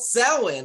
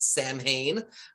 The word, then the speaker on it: Samhain: It's called Samhain, or as some people might pronounce it, Samhain.